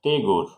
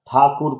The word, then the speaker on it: Tagore: takur or robin not tegor so how thakur converted to tegor by british probably they are not unable to pronounce thakur that's why they have converted to tagore the way they converted